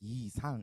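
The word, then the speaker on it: 이상: Sang-bin, and uh, and the poet's name is Yi Sang in pronounced in Korean.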